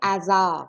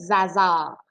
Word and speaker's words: hasard: tu vas dire les hasards, hein, on ne dira pas les hasards. Donc, hasard, c'est aussi un H aspiré, donc l'illusion n'est pas possible.